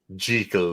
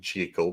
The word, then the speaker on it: Jekyll: I'm saying Jekyll because his mama named him Jekyll. That's what I'm going to call him. One of the pieces of trivia said this was the only movie where they pronounce it correctly.